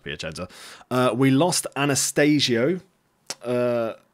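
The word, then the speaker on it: Piacenza: last game against uh piachenzo piachenza I think it's pronounced piachenza uh we lost Anastasio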